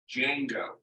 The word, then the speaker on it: Django: pronouncing I'm a Chinese it is pronounced Django the D is silent yeah correct using secret